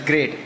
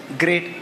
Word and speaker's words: GR8: it is pronounced as great even at the earlier stage I used to pronounce GR8 but it has to be pronounced as great Affinity Services LLP it